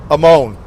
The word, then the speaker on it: Salamone: S-A-L Amone. Sala, S-A-L-A, Moan, M-O-N-E, not M-O-A-N, silly.